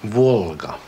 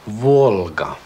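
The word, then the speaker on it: Волга: Men när vi ser Volga, då uttalet är väldigt likt det engelska L. I ordet till exempel, well. Just det. Och vi ser Volga. Volga.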